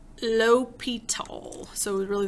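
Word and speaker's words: L'Hôpital: it looks but it's low petal so it was really the H is silent this was named after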